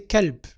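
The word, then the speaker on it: كلب: Entre le L et le B, il n'y a pas de voyelle. L, B, il n'y a pas de voyelle. Et le B aussi ne porte pas de voyelle. On peut mettre un E, kalb, mais c'est une voyelle muette aussi.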